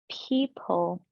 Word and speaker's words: people: error people great and did you make this dark l sound people great from we're going to